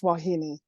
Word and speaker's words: wahine: looks like wah it looks like wahine h i n e but it's wahini like it's really Hawai